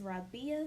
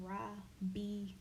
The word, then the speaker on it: Rabia: to say it again, Rabia. 3 syllables, guys, because I know I grew up with a lot of people mispronouncing my name. 3 syllables is not hard to sound out.